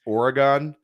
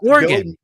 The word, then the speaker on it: Oregon: People get very angry in chats of those that I'm on about how I pronounce Oregon. Yeah, I was gonna yell at you when you said it. It's Oregon.